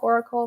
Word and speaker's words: Auracle: I will spell Oracle because it is a play on words. It's spelled like aura, AURACLE Academy. So Beautiful.